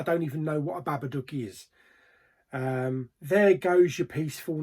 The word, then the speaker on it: Babadook: This is called The Babadook. I think that's how you pronounce it. Not the Babadook, the Babadook.